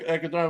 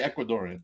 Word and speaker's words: Ecuadorian: I'm not Ecuadorian, but I'm Puerto Rican. It's all right. You're how do you say it? You're an honorary Ecuadorian.